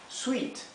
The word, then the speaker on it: sweet: palabra dulce, que es sweet. ¿Sí? Sweet. ¿Sí? Sweet. Recuerden que la doble E se pronuncia I. Esto es sweet, es como una I un poco más larga, sweet.